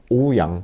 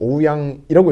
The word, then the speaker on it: 오스카 오우양: 디자이너 중에 하나인데 오스카 오우양. 그렇죠. 오스카 오야. 오우야 아니고 오양 아니고 오우양이라고 읽으면 될 것 같아요.